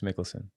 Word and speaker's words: Michelsen: have firsthand experience observing Alex mikkelson so I pronounce his name correct yeah Alex mikkelson with uh where to begin but let's let's